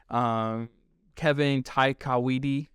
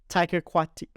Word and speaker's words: Taika Waititi: Kevin Taikawidi. Kevin? How do you say his name? Taika Waititi.